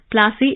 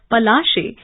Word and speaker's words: Palashi: india company in india plassey is an anglicized pronunciation of palashi and the place derived